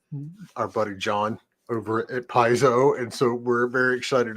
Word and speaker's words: Paizo: is the senior developer at how do you pronounce that piso at piso that's correct piso at piso and we're the